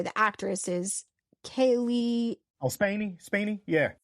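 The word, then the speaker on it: Spaeny: Oh, Spaney? Yeah. Spaney.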